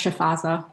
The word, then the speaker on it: Shifaza: It's pronounced Shifaza, like a Sorry. chef. As Aza.